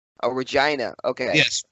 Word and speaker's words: Regina: Canada and hockey it's Regina Oh Regina okay yes rhymes with vagina got it well shoots